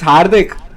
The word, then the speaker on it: Hardik: It's Hardik. Hardik.